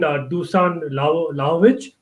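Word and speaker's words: Dušan Vlahović: But I think one of the chats mentioned Dusan Lajovic. That's how you pronounce him.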